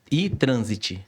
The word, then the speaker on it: iTransit: É com Y, não é? Com I. Com I? iTransit, com T mudo. No final é T mudo. Isso. É I... Transit. Transit.